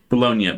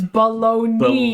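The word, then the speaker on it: bologna: Bolognia. The cheapest crap you can find. Bologn, says Bolognia. It's spelled Bolognia. It is baloney.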